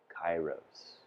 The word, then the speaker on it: Kairos: if most of us don't know how to pronounce this word. So let's all say it. Kairos.